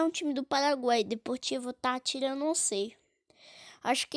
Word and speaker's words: Deportivo Táchira: Ah, sei lá, não ligo muito pro Deportivo Táchira. É errado falar Deportivo Táchira, mas na verdadeira pronúncia é Deportivo Táchira.